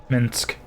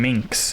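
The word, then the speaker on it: Minsc: Minsk. That's how you say his name. I'm saying Minx, and that's not his name at all. His name is not Minx.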